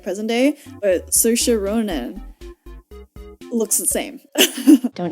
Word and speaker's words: Saoirse: No, I literally looked up how to pronounce her name. No, I'm messing up. Saoirse. It's actually Saoirse.